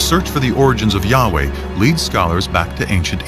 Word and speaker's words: Yahweh: And his name was these four letters, which in English would be YHWH, which we think were probably pronounced something like Yahweh.